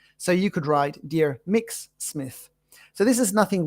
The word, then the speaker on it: Mx: to know about it it's pronounced mix MX in this case we